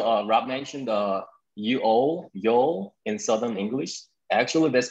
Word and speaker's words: Yeol: uh you know uh rob mentioned the uo yo in southern english actually that's my first name how you pronounce my first name so i use that